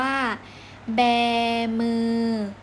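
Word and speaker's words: แบมือ: ต่อ ไป คำ ว่า แบ มือ บ บวก สระแอ อ่าน ว่า Bear Bear + มือ แบ มือ แบ มือ คำ สุด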